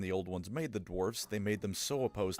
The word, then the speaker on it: dwarfs: Okay, that it's pronounced dwarfs, not dwarves.